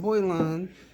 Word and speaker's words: Boylan: I always say that wrong. It's I said it right. Boylan.